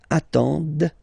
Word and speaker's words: attendent: Okay, and the last one, same thing, classic ending for il, elle at the plural form, ENT, but then you don't pronounce them. Ils attendent, de. Okay, so remember you get to pronounce this, the D at the end.